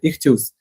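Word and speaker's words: ἰχθύς: І знаєте, я почитав в інтернеті і знайшов, що слово риба це, ну, читається як і іхс или іхс ігрецьке слово, так, грецьке слово риба читається як іхтюс.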